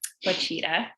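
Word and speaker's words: Ouachita: Is that how you say it? Wichita? Wachita? Wachita. So it's spelled Ouchita.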